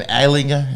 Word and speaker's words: Ehlinger: Sam Ehlinger, is that how you say it?